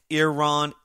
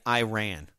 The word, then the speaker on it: Iran: It's like the difference between Iran and Iran. Iran is the right way to say it.